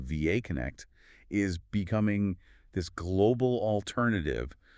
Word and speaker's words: VA Connect: And just to be clear on the pronunciation for everyone listening, it is VA Connect.